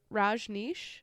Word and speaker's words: Rajneesh: All right, well, we're going to start this list off with number 10, the Rajneesh movement. Well done. Yeah, That's great. actually looked up the pronunciation of this one before, so I didn't sound like such a knob.